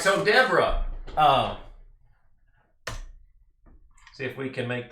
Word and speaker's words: Deborah: Most Hebrew words are accented on the last syllable, so it would be Deborah. Deborah.